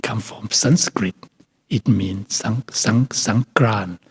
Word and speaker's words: Songkran: It means Songkran, Sankarana, it means moving the season.